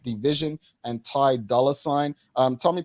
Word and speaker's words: DVSN: Kate says, my favorite artists to listen to right now are Eric Bellinger, DVSN, pronounced Division, and Ty Dolla Sign.